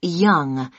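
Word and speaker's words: Yonge: Yes, it's Young. Young. That's... That's spelled Y-O-N-G-E. That's Young.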